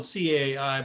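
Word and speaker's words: 采: we kind of um the C is spelled Cai but it's like it's pronounced like with a t s and um and that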